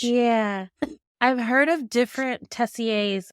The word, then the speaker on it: Tessier: you so you I've heard of is it pronounced a teaser or teser Tessier is how I've heard it said Tessier 7 is what she was we were told that she has oh wow Tessier I see the whole time I was calling